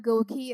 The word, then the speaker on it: GOQii: rewards and I also want to mention that Goki is spelled g q i i i so that's